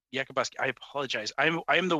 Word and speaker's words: Yakabuski: Yakabuski. Yakabuski. I apologize. I am the worst for pronouncing names, so I will butcher that a few times, I'm sure, today.